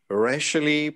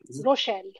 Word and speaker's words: Rochelle: The first certificate goes to the main speaker, Rashley. Am I correct in pronouncing the name? Rashley Rochelle. Yeah, Rochelle. Okay.